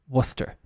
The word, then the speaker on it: Worcester: Source quite famous source Worcester like phonetically it would be like this Worcester w-u-s-t-e-r uh you also have